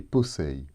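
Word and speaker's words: πόσει: Dans le passage de Colossiens 2,16, ils sont au datif et se prononcent brosei et posei.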